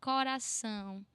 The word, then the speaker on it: coração: Co, this open O, co with the C, co, ra, the R with only one roll, ra, co, ra, with the open A, coração, bananeira, maneira, são.